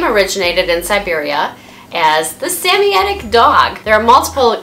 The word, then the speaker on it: Samoyed: So their name originated in Siberia as the Samoyedic dog. There are multiple correct ways of pronouncing their name depending on your world influences and where in the world you're from and your accent.